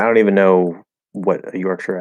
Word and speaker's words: Yorkshire: Yorkshire. I've heard it pronounced Yorkshire sometimes. Usually, I will either say Yorkshire because I see Shire, or Yorkshire with an Those are the two ways I usually say it, whichever one comes out. But yeah, I've heard Yorkshire also.